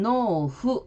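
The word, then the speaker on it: 農夫: 일본어 발음에서 여기에서는 부부일 때는 후 이렇게 장음으로 되고 농부일 때는 노후 이렇게 한음절로 발음이 됩니다.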